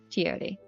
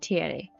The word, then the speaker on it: Tiere: Tiere. That's how you say it, Tiere.